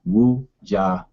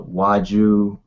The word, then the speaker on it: Wuja: and short and simple, Wuja. A lot of people butcher butcher up my name if they see it spelled, but uh my name is pronounced Woo Ja.